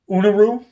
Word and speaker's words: Eunorau: i ordered one uh i'm not even sure how you pronounce this i think it's uh unuru e-u-n-o-r-a-u and i believe that's